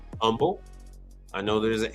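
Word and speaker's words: Humble: Houston which is called Umble I know there's an H there but it's h is silent it's Umble um and then they're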